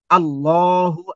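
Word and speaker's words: الله: আল্লাহ আমাদের সৃষ্টিকর্তা আল্লাহ এই আল্লাহকে দুটা ভাবে উচ্চারণ করতে হয় আল্লাহ শব্দটাকে দুটা ভাবে উচ্চারণ করতে হয় কিন্তু আমরা জানিনা এটা একসময় আল্লাহ শব্দটা মোটা হবে একসময় আল্লাহ শব্দটা পাতলা হবে এখন কখন মোটা হবে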